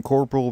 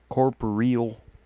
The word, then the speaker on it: corporeal: hours I was doing Corporal Beast corporeal I know it's sounding like I'm saying Corporal but yeah I'm I'm